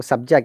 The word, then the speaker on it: subject: Now subject. You're stressing on ject when you use as a verb.